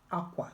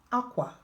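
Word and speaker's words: akwa: So in Igbo language, tone and accents matter, but most importantly, context. Igbo is famous for having one word spelled the same way, but used differently and meaning different things.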